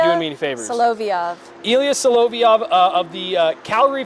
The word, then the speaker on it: Solovyov: Help me with the pronunciation here because my screen is not doing me any favors. Solovyov.